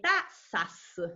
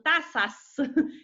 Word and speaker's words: tasas: cuando se hace correctamente se habla de tasas o sea ya una s al final ahora los chilenos no pronuncian nunca la s pero en este caso es muy importante son tasas de interés de la